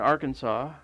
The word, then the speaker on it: Arkansas: It's in Arkansas, which I think should be pronounced Arkansas.